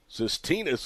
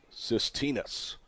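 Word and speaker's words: Tsistinas: stay up and it's SED out of play cytinus is spelled t s i s t i n a s but pronounced cytinus home Runner goes the pitches lined at the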